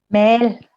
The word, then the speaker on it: Mel Cerecer: Hoy vamos a hablar sobre el nuevo libro que escribió Norma con ilustraciones de Mil Cerecer. Se pronuncia Mil, ¿verdad? Mel. Mel. Ajá.